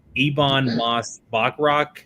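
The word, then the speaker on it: Ebon Moss-Bachrach: Ebon Moss Bachrach.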